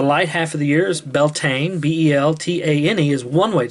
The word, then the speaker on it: Beltane: winter darkness the light half of the years beltane b-e-l-t-a-n-e is one way to spell it and of course the dark half of